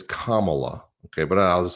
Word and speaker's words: Kamala: history so Jee when Camala and and I'm always saying her name wrong it's it's it's Kamala okay but I'll just